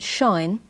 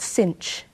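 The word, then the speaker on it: sinh: sign in this video I'll call call It Shine but you will come across some people who call it cinch and shine X is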